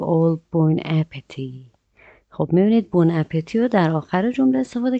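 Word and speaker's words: bon appétit: بون اپتی، بون اپتی به معنی نوش جان، و اگه دقت کنید تی آخر تلفظ نمیشه، میگیم بون اپتی.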